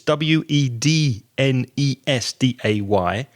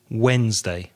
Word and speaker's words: Wednesday: spelling is strange it's wedn es da Y and the pronunciation Wednesday Wednesday so the D is silent Craig what day comes